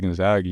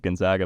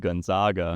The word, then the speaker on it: Gonzaga: Good job on the pronunciation of Gonzaga, by the way. Yeah, I seen Coach Sampson said something about that, yeah. A reporter said Gonzaga. Yeah, I've never said it like that.